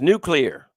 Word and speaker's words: nuclear: It's pronounced nuclear.